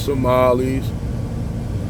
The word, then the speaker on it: Somali: And f first of all, y'all people don't even know how to It's not Somalian. It's Somali. Just to correct y'all It's Somali, not Somalian.